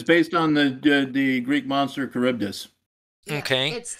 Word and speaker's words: Charybdis: Because that's why because it's based on the Greek monster Charybdis.